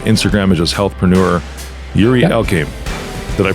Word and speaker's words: Yuri Elkaim: Yuri Elkaim. Did I pronounce it right?